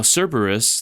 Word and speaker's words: Cerberus: Now Cerberus, the mythical three-headed dog that guards the gates of Hades, is 3 syllables. But in order for it to fit into our 2-syllable pattern, Louisa pronounces it Cerberus, getting extra points not